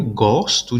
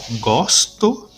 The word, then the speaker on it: gosto: então eu gosto eu gosto de ler o gosto de leitor perceba aí o som aberto na primeira opção igual gosto é o aberto e na segunda opção gosto o o